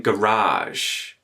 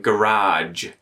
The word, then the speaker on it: garage: I don't think you'll hear many people in Australia saying garage or even garage. You may hear the garage. You may hear garage, or you may hear garage. This j versus j sound at the end there. You know, pick which one you like. But you won't hear g. Garage. Garage. That's a bit weird.